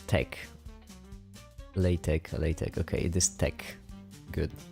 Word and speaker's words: LaTeX: Text you pronounce tech. LaTeX.